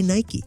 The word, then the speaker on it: Nike: or should we say Nike 50 years after founding the company he finally confirmed Nike two syllables make your favorite peanut